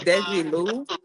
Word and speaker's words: Desi Lu: Okay, so the name on the screen is Desi Lu.